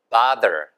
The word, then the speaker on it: bother: 정말 괴롭혀드려서 죄송합니다만 그래서 괴롭히다, 성가시게 하다 bother, bother. 이게 bother 절대 아니고요. bother 이것도 아니고요. 보세요. 바. 우리가 박스라고 하잖아요. 그 박스 할 때 그 BO랑 똑같은 발음인 거예요, 얘가요. 바, 그 다음에 the 여기 울리게.